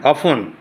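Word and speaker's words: often: evening evening অথন না অফ টির উচ্চারণ নাই অফ এই ইটা অচ্চ হয়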